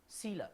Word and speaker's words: coelom: Yeah, a coelom. I love that word. Love it. Because it never sounds like it's spelt, right?